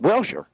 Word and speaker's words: Walser: Walser. Walser. Walser. just like it's spelled.